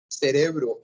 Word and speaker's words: cérebro: Gente, a palavra cérebro em português está acentuada na primeira, sim? Na primeira sílaba.